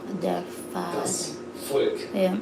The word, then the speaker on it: Volk: Das Volk, Yeah. not das Volk. You pronounce it like an F.